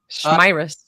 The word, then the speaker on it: Schmirus: And is it pronounced Schmirus? Schmirus. It's like Schmirus? Like virus Schmirus, you know?